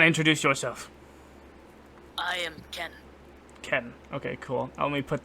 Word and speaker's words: Qen: Ken. Okay, cool. Let me put that on the thing here. Yeah. Ken. Like K. It's spelled Q-E-N.